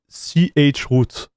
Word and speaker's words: chroot: I have to hear people say CH root. Oh, I have to say CH root? Oh man, I didn't know about that. Oh, I'm the worst, dude. Okay, so I would say CH root.